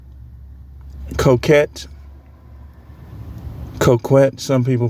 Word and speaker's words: coquette: So this video is entitled, "What is a coquette?" Coquette. Coquette. Some people pronounce it coquette.